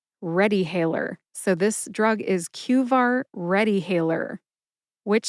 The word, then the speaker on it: QVAR: QVar has two syllables. That's Q like the letter in the alphabet Q and var, which rhymes with far.